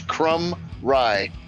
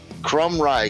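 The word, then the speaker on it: Krumrei: It's 2 syllables. Crumb Rye. Crumb Rye? Crumb Rye. K-R-U-M. It's like crumbs of bread. Crumbs of rye bread. That's how you say it.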